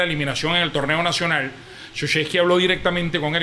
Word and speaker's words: Krzyzewski: O sea, recientemente, recuérdame, ¿cómo es que se pronuncia el nombre del ex entrenador de la Universidad de Duke, por favor? Krzyzewski, bendito sea el señor, no joda. Mike Krzyzewski.